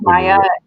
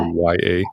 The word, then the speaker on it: Mia: Is it pronounced Maya? It's pronounced Maya. Yeah. M-A-Y-A. Maya, but it's spelled M-I-A.